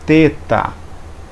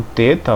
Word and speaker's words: teta: então esse th aqui alguns vão pronúncia a ele como um th em inglês como fim e não como um ter em português você pegar por exemplo